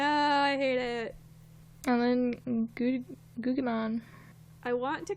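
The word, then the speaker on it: Guggimon: And then Gugimon. I want to call him Gugimon, because that's how you'd say it, like, in Italian, phonetically, but I like Italian, it's my favorite language.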